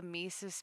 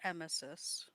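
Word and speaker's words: emesis: This is why I have a Misus bags everywhere because like straight up because I'm like one I don't want. It's pronounced emmesis.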